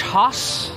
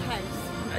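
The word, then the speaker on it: Haus: Pinocchio's Village Hoss, not house. Hoss, Hoss. I think it's pronounced house. Yeah, it was German, Hoss.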